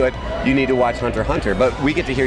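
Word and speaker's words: Hunter × Hunter: called hunter hunter ha spelled hunter x hunter pronounced hunter hunter I play a character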